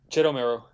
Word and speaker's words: Jettomero: I think it's Jettomero. That's the game you're currently working on. Yeah, Jettomero.